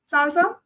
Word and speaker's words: SLSA: What is the Salsa? I know it is just pronounced like it, but its full form is supply chain levels for secure software artifacts.